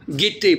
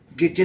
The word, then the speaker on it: guetter: Alors, est-ce que le U, on le prononce ? Non. Non. C'est-à-dire, non. Il est là, mais il est caché.